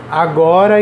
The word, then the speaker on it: agora: Agora e embora. Ó, qual é a rima? O ora. Mas onde é que está a sílaba tônica? Na penúltima sílaba. No go e no bo, certo?